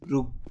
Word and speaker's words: Brug: juga BW juga Gimana Gimana nulisnya bacanya BR r b b e r u g s b r o u g s brug brug brug gitu b r u g